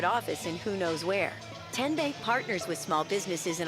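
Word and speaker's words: TNBank: How do you say What is Kyan Bank? No. Tin Bank? Uh-uh. So, what is it? Ten Bank. Ten, as in Tennessee, right here where all our banking decisions are made.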